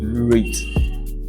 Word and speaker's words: REIT: Estate Investment truns Trust I call it rate so rate allows you